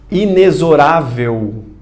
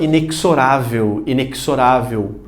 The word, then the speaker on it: inexorável: Inexorável. Você fala, professor, peraí, tá escrito errado, tá? Isso daqui é para deixar claro como é que se pronuncia essa palavra. E curioso, muita gente fala inexorável.